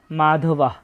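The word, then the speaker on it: মাধবঃ: আমরা প্রথমে দেখতে পাচ্ছি মাধবাহ। আমরা আগেই জেনেছি যে শব্দের শেষে যদি কোন বিসর্গ থাকে তার জন্য অর্ধেক হ এর মত একটা সাউন্ড আসে। তাই এখানে হবে মাধবাহ।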